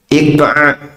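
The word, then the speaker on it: إقعاء: Iqa'a. Bisa diucapkan iqa hamzah. alif ya qof ain kemudian hamzah iq.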